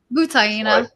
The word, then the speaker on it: Boutaina: of ways, but it sounds like, is it Boutaina? Is that how you say it? Boutaina, yeah.